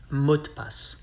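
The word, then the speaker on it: mot de passe: is password mode pass but we say it fast it sounds like mutpass we skip the letter e pass pass how to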